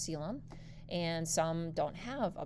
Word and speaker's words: coelom: That's actually how you say the word, not colum. It's actually pronounced coelom.